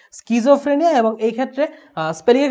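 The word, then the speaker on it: schizophrenia: Right spelling সিজোফ্রেনিয়া, স্কিজোফ্রেনিয়া কিন্তু উচ্চারণ হবে, সিজোফ্রেনিয়া না, ওকে স্কিজোফ্রেনিয়া।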